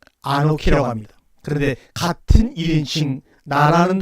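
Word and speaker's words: אָנֹכִי: 창조했다고 하지 않냐고 1인칭 내가 창조했다 하게 되면 아노키 바라 이렇게 표현할 수가 있습니다. 그런데 굳이 창세기 1장 1절은 3인칭으로 표현했습니다. 아노키 바라라고 하는 내가라고 하는 것은 뭡니까? 창조한 사람이 바로 나야라고 하는 나를 강조할 때 아노키라고 합니다.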